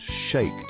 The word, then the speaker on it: shaked: The Hebrew word for almond, shaked, sounds like the word for watching, shakt.